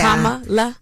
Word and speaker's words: Kamala: Kamala. Yeah, I mean, learn how to pronounce that first, and then you know.